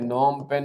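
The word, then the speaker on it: Phnom Penh: Cambodia की राजधानी है नॉम पेन, जिसमें ये पी साइलेंट है, यहाँ पी साइलेंट है, नॉम पेन बोलते हैं।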